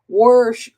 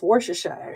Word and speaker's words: Worcestershire: how to pronounce that they'll say warsh sometimes I hear like tick tocks they say wash your sister sauce but it's Worcestershire sauce so there's that one